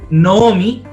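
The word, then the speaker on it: נָעֳמִי: Tenemos el Hatef Kametz adelante del Kametz. Entonces, automáticamente, si nosotros vemos una palabra escrita así, entonces nosotros tenemos que decir, ah, ok, esto entonces es una O y no es una A.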